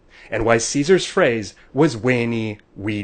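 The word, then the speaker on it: veni: wink at a and why Caesars phrase was weyni we D vici now before you go around enforcing reconstructed pronunciation on us getting the Pope to speak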